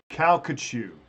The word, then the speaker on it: Calcasieu: Calcasieu. Thank you. He did. He phonetically broke that down for me in a way that I could understand.